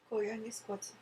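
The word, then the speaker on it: Koyaanisqatsi: How do I pronounce Koyanis Kwatsi? Koyanis Kwatsi.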